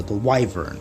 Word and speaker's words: wyvern: Later in the series they called the wyvern, but they pronounce it wyvern. I'm gonna kill myself if I hear wyvern one more time. It's wyvern, you morons. Pronounce it correctly. It is wyvern, not wyvern. Anyways, but yeah, like the